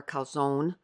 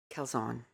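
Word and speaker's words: Karlzon: And then I ordered from Hannah Kzon or Kzone. Um Kzon, why can't I say her name? It's not Zone. It's Zon.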